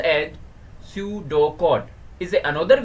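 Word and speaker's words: pseudocode: कहीं सर्किट में प्रॉब्लम हो ए सूडो code pronounce as सूडो code is another way of representing algorithm means algorithm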